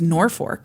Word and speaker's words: Norfolk: It was Norfolk, apparently.